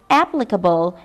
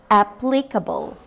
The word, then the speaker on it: applicable: word is applicable so this adjective starts like the apps in your phone applicable not applicable second word we have